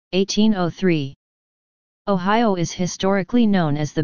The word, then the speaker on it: Ohio: Ohio derives from Seneca, an Iroquois language, as their name for the Ohio River / Allegheny River, Ohio. This is pronounced Ohio, with the I sound being held an extra second.